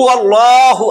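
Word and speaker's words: الله: দেখেন হু আল্লাহু হু আল্লাহ বললে কিন্তু গুনাহ হবে আল্লাহ ওয়াল্লাহ লামে আল্লাহর লাম ডাইনে জবর লামে আল্লাহ মোটা হুয়াল্লাহ ওয়াল্লাহ তাসদিদের আগে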